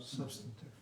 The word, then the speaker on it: substantive: On the first syllable, substantive.